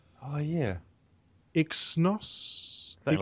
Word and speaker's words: Exynos: Exynos 8 Octa 8890 I pronounce it Zynos. Yeah. Even though it's a silent E. Oh yeah. Exynos. Something like that. Exynos.